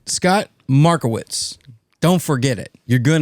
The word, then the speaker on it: Markowitz: States all right Scott marwitz don't forget it you're going to need it if you don't need it now Mar witz it rhymes with tickets How Could You Forget